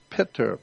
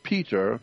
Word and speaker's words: pitar: In the ancient Sanskrit language, Father is Pitar, P-I-T-A-R. Not Peter, P-E-T-E-R. No, Pitar, P-I-T-A-R.